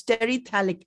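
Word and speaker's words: terephthalic: brought yeah i together the ph is silent in that so it's sterithalic acid thank you so much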